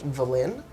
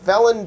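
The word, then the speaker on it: Vellynne: v at the beginning so technically the book says uh her name is pronounced villain but i don't like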